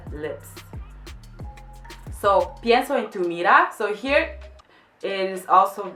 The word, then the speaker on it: mirá: Again, she says it in an Andalusian way, or like more gypsy way, which is pienso en tu mirá clava una bala en el pecho.